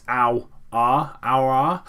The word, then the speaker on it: Aouar: I have seen how to pronounce his name. It's Aouar.